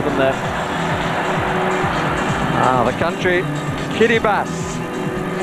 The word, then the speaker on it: Kiribati: Ah, the country, Kiribati. Not spelled like that, but that's how it's pronounced, let me assure you.